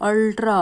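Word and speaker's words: ultra: उसके बाद देखिए अल्ट्रा थिन लैपटॉप, तो यहाँ पर यू जो है वो यू की साउंड नहीं दे रहा है, अ की साउंड दे रहा है, अल्ट्रा अल्ट्रा अ साउंड आ रही है, तो अ साउंड जो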